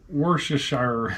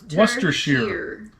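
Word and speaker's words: Worcester: you struggling with royal worshire it's pronounced were what wer wer Shear we got wer Shear just like the sauce in the UK sh is 99% of the time pronounced Shear you got some Fab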